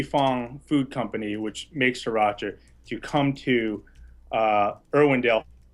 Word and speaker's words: Sriracha: how to pronounce this sauce how do you pronounce this thing it's called Sriracha Sriracha okay sriracha and this is a nice